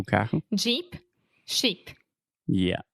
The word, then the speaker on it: Jeep: Jeep, sheep. Yeah. So sheep, ovelha has the SH sound, sheep. And then Jeep has the Jeep.